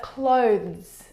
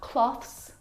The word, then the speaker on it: clothes: clothes ah your clothes but clothes clothes not cloths not clothes and not close those either the difficult thing